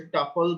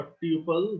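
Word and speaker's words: tuple: একটা হচ্ছে লিস্ট বা লিস্ট লিটারাল, তারপর হচ্ছে টাপল বা টিউপল, যেটা উচ্চারণ করে নরমালি টাপল উচ্চারণ করা হয়, টাপল লিটারাল।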